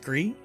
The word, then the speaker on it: Gris: So it should be pronounced Gree.